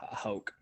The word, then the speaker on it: Houck: I don't know how to pronounce his last name. It's Houck.